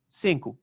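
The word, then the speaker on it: cinco: they're learning non-french languages another example of penultimate stress is in the word for five cincu uh which only has two syllables so it's saying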